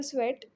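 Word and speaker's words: Tswett: अब जिन्होंने टेक्निक दी थी वो थे माइकल स्वेट। इसमें टी साइलेंट है।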